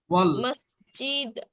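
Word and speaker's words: والمسجد: আলটা হামজাটা উচ্চারণ হবে না, বিকজ যখন আলিফ লামের আগে কোনো ওয়ার্ড থাকে অথবা লেটার থাকে, তখন ওই আগের লেটারটা সরাসরি লামকে গিয়ে ধরবে, মাঝখানে আলিফটা লেখায় থাকলেও উচ্চারণ হবে না। ওয়াল মসজিদু, এখানে আলিফ যেটা আছে এটা উচ্চারণ হবে না, তাহলে ওয়াল মসজিদু।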